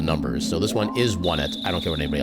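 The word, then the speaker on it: Onett: Yeah, supposedly the canon pronunciation of that name is Onet, which to me makes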